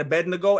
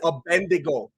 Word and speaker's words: Abednego: don't know how to how to pronounce Shadrach Meshach and Abednego everyone says abendigo it drives me crazy